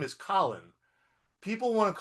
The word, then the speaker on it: Colin: It's pronounced Colin, not Colon, not Collins, not, you know, however weird, not with a K like no C O L I N.